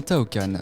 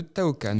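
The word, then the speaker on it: Taoqan: Aujourd'hui, on va faire un tour du monde grâce à un certain Tao Khan.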